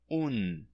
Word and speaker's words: un: O artigo indefinido un, em espanhol, acaba com N e se pronuncia un.